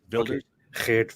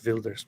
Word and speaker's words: Wilders: Dutch um I think I think the W for them is a v like in German isn't it Builders vild Builders maybe yeah okay makes